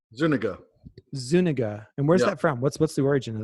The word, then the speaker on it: Zuniga: how do you say say your last name Zuniga Zuniga and where's that from what's what's the